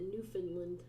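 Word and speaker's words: Newfoundland: in Canada New Foundland mom used to pronounce it New Finland okay newfinland if it's good enough for my mother-in-law it's good enough for me she was the sweetest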